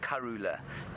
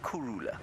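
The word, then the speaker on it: krhula: that when you um when you hear a shangan person pronounce it it sounds a little bit like Kula um but it's actually Kura k r h u l a that is the shangan word for peaceful now we're not going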